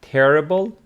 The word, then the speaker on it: terrible: have these words like terrible with the stress on the first syllable terrific on the second which means wonderful make